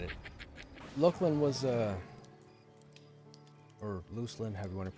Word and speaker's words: Luclin: We used to say Luckland growing up, but I heard somebody from SOE pronounce it lucin one day, which kind of makes sense because then you think of lucid, like lucid dreaming.